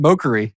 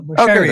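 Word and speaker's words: Mochary: No, I pronounced it Mokari. I've said Mokari like on it. Yeah. That's actually how I've been saying it too. But then one of the people who worked with us ended up transitioning to his team, and she taught me actually how to say his name. I was like, oh, Mosheri. Okay.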